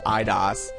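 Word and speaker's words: Eidos: rate copyright from uh idos idos I think it's idos I actually looked up the the Wikipedia entry for them and the pronunciation key says idas so I'm going to go with idas um they apparently or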